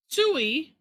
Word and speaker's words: Tsui: Yeah, so I'm guessing we call it Tsui, because you were Or not going to pronounce the, or you call know, it just it sounds like, yeah, like if you were to make like bird sound. a spit sound.